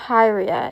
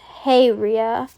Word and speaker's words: Hyria: So, it's not Hi, it's H Ria.